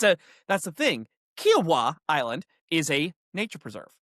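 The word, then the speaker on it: Kiawah: You need to say it like Kiwa Kiwa.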